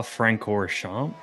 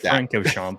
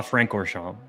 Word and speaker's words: Francorchamps: is the Belgian track it's Spa I believe it's Spa franor shamp there's an extra R in there because I would think Franco shamp but spa franor shamp hopefully he didn't go